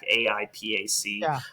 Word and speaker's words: AIPAC: I think it's pronounced Apac. AIPAC.